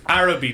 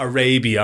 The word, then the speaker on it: Araby: It's Araby, not Arabia.